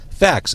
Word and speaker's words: FACS: It is your sixth album, Facts, f a c s. And I I spelled it out. I mean, I know you know how the band's name is spelled, but for people who are listening and not watching, they may think it's f a x. Right. Or they may think I'm saying f a c t s.